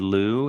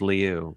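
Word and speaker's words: Lieu: uh who else um congressman Ted Leu or Ted Lou as most people call but I went to high school with him and I swear it's pronounced Leu and but I have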